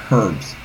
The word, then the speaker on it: herb: Or as some people like to say, herbs. For God knows what reason why. Apparently people don't go to school. They're English? I don't know. If you fucking live in America, it's pronounced herb.